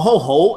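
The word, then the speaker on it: 好: It's a rising tone. So you just say it twice, because Chinese is like this. If you say it once, like ho means good, and if you say ho ho, it means very good.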